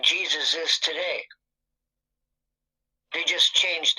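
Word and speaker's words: Jesús: you pronounce pronounce this you do want to stress on the second syllable that's what the accent on the means here Jesus pretty straightforward once you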